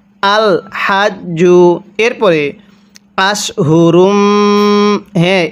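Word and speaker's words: أشهر: এরপরে আশহুরুম, এই শিনটাকে আমরা মোটা করে পড়ব। কিভাবে পড়ব? আশহুরুম।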